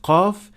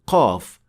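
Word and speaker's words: قاف: mistake that is usually made by beginners is producing qaf way deeper than it should be. This happens when you try to exaggerate the sound, so it becomes way heavier and more difficult to pronounce than it should. And the mistakes sound like this: qa, qa, qalu. This is also detected when you hear a hint of kha or ghain along with the sound of qaf.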